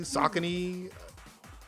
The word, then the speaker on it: Saucony: largest throwback episodes in there that's how you pronounce it is a combining Saucony saucony I couldn't afford I couldn't afford the